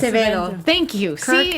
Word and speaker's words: Acevedo: Somebody pronounce it. Acevedo. Thank you. See, Acevedo.